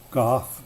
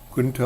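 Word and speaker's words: Goethe: with a quote from what looks like goth but I understand it's pronounced Junta or something like that all truly wise thoughts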